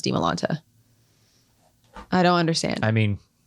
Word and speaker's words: Dimalanta: Don't base Dimalanta off of Demi. It's Dimalanta. Yeah, and then even so, Dimalanta. Get that? I've gotten Dimalante.